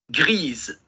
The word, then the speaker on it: grise: Y aquí me quedo hasta la S.